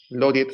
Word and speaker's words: Laureate: Yo trabajaba en esta empresa, Laureat se escribe, Loriet se pronuncia.